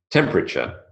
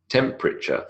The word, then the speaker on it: temperature: its elided away memory temperature temperature three syllables not temperature temperature if anyone is familiar